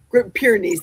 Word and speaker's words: Great Pyrenees: Great Pyrenees, that's the pronunciation.